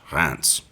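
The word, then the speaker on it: Reims: or more logically pronounced re that is instead pronounced Rance French language notwithstanding gurnie made up for his near victory at Rance the previous year having that time been unwilling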